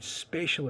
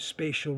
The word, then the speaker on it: spatial: objects and space in spatial information it's about spatial relations note pronounciation spatial special it's easy to confuse special special special special I'm talking about spatial if I say the